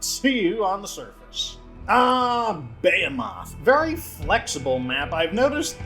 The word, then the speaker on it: Behemoth: I think it's actually pronounced Behemoth, so I don't know. Someone's corrected me on it before.